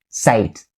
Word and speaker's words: sight: are pretty long and the only pronunciation point you should be aware of is the t at the end of the second part of the word sight sight the t right there in each and every single one of them